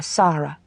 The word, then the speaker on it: Sara: She said, "This is my daughter, Sara." Pronouncing the name so that the first syllable rhymed with car.